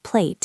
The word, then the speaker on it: plate: The T at the end of plate is often a stop T in English. We don't always say plate, we just stop the air.